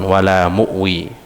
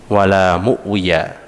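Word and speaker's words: ولا مؤوي: ng tefadol wala muwi jadi bacanya bisa diwakofkan wala muwi di situ tertulis wala muwiya akan Ti diwakafkan sehingga dibaca wala muwi ini dibaca sebelum tidur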